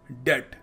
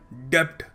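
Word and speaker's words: debt: pronounce करने का alarm अगला शब्द है डेट डी ई टी इसको ऐसे प्रोनाउंस करते हैं जो बी लगा हुआ है ना वो साइलेंट है और लोग क्या बोल देते हैं लोग बोल देते हैं डेप्ट मैं तो डेप्ट में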